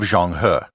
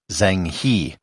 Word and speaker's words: Zheng He: might pronounce it as Zheng He. I'm trying to stay true to the Chinese pronunciation as much as I can.